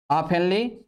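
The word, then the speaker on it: often: या the people ऑफेनली, ऑफेनली, ये T silent है, ऑफेनली फॉल इल, प्रायः बीमार पड़ जाते हैं, प्रायः बीमार पड़ जाते हैं।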